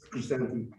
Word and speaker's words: Crescenti: You pronounce it Christine or Christani? Crescenti, Chrisanti? Crescenti, yes, Italian.